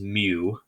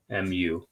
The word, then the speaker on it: mu: like a lowercase u with a tail it's pronounced mu mu okay but that's the symbol for mean okay